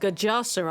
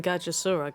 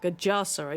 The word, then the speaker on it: Gajasura: Oh, it's pronounced Gajasura. I was saying Gajasura. Gajasura.